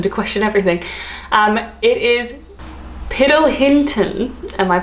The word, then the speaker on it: Piddlehinton: It is Piddlehinton. Am I pronouncing that wrong? It's a bit of a mouthful. It sounds like piddle, which is like when a dog relieves themselves. Piddlehinton.